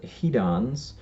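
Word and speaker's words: hedons: the scale are called he Don's and in the negative side they're they those are called dollars now he Don's is spelled HED ons and dollars is spelled DOL ors and you can just hear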